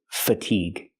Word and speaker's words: fatigue: This is fatigue. The a is making a short sound like cup and up because it's not stressed. F- fatigue. Stress the second syllable. Make the long e sound like green beans.